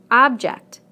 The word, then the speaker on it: object: Object, object. Permit, permit. Again, we stress the first syllable in the nouns and the second syllable in the verbs.